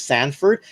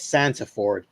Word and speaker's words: Santaford: he comes on because I keep pronouncing his last name as Sanford. And for the first time, I'm finally seeing it as Santaford.